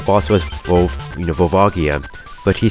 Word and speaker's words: Volvagia: was both you know volvagia but he said you know he pronounced it as phobojira so and then he